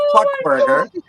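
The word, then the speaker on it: Fuk Burger: It's called Fuck Burger. But it's not spelled like fuck, right?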